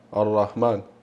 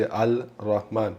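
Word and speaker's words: الرحمن: tutte lettere solari, quindi quando abbiamo lettere solari abbiamo detto che l'emo non lo pronunciamo, quindi abbiamo Ar-Ra, Ar-Rahman, Ar-Rahman, Ar-Rahman, non dici Al-Rahman, dici Ar-Rahman, quindi il lemma lo salti il lemma, Ar-Rahman.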